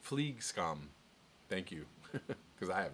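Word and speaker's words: flygskam: to feel about flying flag scam pronounced fleek scum thank you because I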